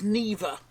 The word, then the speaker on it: Niva: You pronounce that as Niva. So, I have absolutely no idea why I keep calling it a Niv.